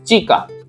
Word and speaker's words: chica: And che, sound of pronunciation of che is cha, and the girl in Spanish is chica, chica.